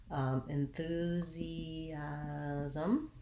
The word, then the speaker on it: enthusiasm: in the word enthusiasm enthusiasm enthusiastic has stress on the second last syllable enthusiasm has second syllable stress so it changes other than that the